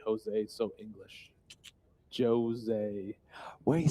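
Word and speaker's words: José: I love how you say Jose, so English. Jose. Well, you see, this is what trouble is I spend a lot of time in Portugal and we pronounce the J in Portugal.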